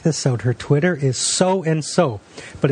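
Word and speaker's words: Sow and So: Her Twitter is So and So, but it's spelled SOWANDSO.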